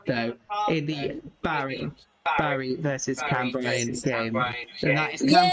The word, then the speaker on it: Cambrian: a yellow card though in the Barry versus Cam Bryan game. And that is Cam Bryan Yay, something United. happened. Give me a minute. Cam Bryan United. Is that how you pronounce Cambrian?